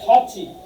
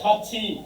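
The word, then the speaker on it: 같이: বসে তাদের পরে যদি ইয়ং বসে তাহলে কি উচ্চারণ হবে ক্লিয়ার করেন যে দেখেন আমি কিছুক্ষণ আগে লিখছিলাম যেমন এটাই কি হবে খাচ্ছি কেন বলছি যে এটা হচ্ছে কি থিউত থিউ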